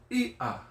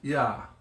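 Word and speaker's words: iʻa: Now why do you make a hiccup or a little separation between that? Ia is because of that mark. Okay? So the proper way to say this word, Ia, is with that mark. And you separate the two. If you don't separate it, it's Ya or Ya.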